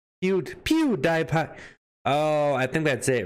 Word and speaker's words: PewDiePie: PewDiePie you do pie so Pew like pew pew pew right and then die pie Oh pew die pie all like you're shooting a pie right you'd pew die pie oh I think that's